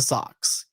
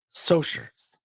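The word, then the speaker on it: Socs: their rivalry is the uh is with the socks pronounced soers a gang of wealthier kids five of the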